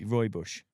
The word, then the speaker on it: Rooibos: Could also be Rooibos. Rooibos, I don't know how you say it, but it's Oh, posh. Rooibos. Rooibos. Yeah, that's yeah. It's spelled funny. Yeah. Roy Bush.